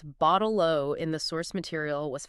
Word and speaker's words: bottle-o: And they concluded that the pronunciation only really works when you pronounce your T's as duh, which is common in the Australian accent.